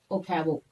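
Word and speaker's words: Ochoa: Next, another person, Severo Ocavo. I pronounce this one as Severo Ocavo. You can pronounce as you like.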